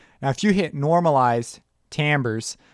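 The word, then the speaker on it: timbres: it resets it now if you hit normalized Tambor's its TI MBR es don't ask me why it's pronounced ambers it's some language thing from some other culture because I mean in America we'd say Timbers is what I Tim Berets it's what I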